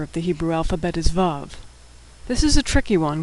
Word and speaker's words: Vav: The sixth letter of the Hebrew alphabet is Vav.